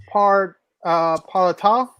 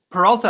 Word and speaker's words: Peralta: Come on, And I got Freddie Palatau. I don't know how to say his last name. Peralta.